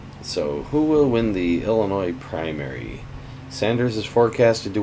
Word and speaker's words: Illinois: March 17th we have Illinois or Illinois as a lot of locals call it or Alan why if you want to pronounce it in French that's French without a